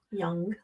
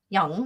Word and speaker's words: Jung: Swiss psychiatrist Carl Gustaf Jung young young there we go I knew I was gonna say it wrong um even though I